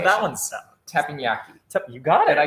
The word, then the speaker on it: Teppanyaki: Again, Rocky does all of my pronunciations. That one's Teppanyaki.